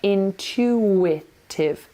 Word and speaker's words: intuitive: okay intuitive intuitive intuitive again we're putting a little silent W in there intutive say it with me intuitive intuitive well done understanding